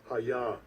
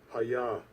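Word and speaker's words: היה: 이 하야라는 단어를 서투른 제 발음으로가 아니라 원어의 발음으로 한번 들어보시는 것도 의미가 있으리라고 생각됩니다. 한번 들어보시죠. Strong's H 1961 하야 하야.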